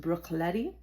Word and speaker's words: Bruichladdich: doing a tasting of this classic Isa called Brooklotti. I know it's spelled kind of interesting. It's pronounced Brookleti and it's on the island of Isa.